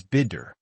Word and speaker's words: bitter: Bitter, pronounce it as bidder.